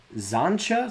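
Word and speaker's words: Xantcha: A rare Zancha Sleeper Agent. It is spelled X A N T C H A.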